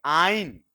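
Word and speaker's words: yne: इसको कैसे प्रोनाउंस करेंगे? आइन। किसकी साउंड देगा यह? आई की। हालांकि इसका फर्स्ट अल्फाबेट क्या है? वाई। यह कंसोनेंट है कि वोवेल है? पर साउंड किसकी देता है? आई।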